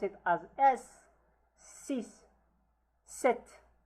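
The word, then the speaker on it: sept: Set. Set. The p is silent here.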